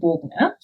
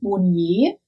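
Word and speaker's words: Bogner: alpine ski racer willie bogna again i think that's how it's pronounced i've heard people call this brand monye which i don't think is right because as far as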